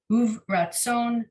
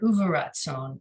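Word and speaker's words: וברצון: See, I've always said this word uvratzon. I have to be uvratzon, but maybe the pronunciation we're learning, the shva under the vet would be the end of the syllable, and it'd be uvratzon. Yeah.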